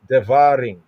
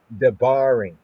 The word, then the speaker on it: דברים: But here we have Dvarin. Dvarin populist popular pronunciation. Dvarin. Devarin. Popular pronunciation. Ancient pointing Afroshit. Debarin.